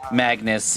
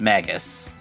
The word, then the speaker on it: Magus: It's not Magnus, it's Maggus.